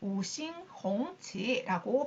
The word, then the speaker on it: 五星红旗: 오성홍기, 5개의 별, 붉은 깃발, 그래서 五星红旗 오싱홍치라고 발음을 합니다.